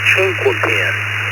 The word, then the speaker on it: Chinquapin: It's actually Chinquapin. It's pronounced Chinquapin. And over easy. I have to go with over easy for me. KR4, Tango Lima Hotel. Well, alrighty, Tony. Chinkopin it is.